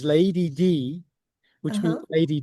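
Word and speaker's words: Leidy: which means which is pronounced as Lady D which means Lady D.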